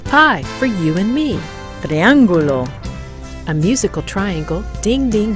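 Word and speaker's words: triángulo: did you look for the shape of the triangulo in your classroom and at home since our last lesson good B let's practice pronouncing triangle in Spanish again listen triangulo triangulo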